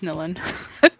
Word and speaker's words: Nilin: Anyways, it's Nilin. Doopy-doopy-doo. I really wanted to cosplay her. I said her name wrong, but I got it right.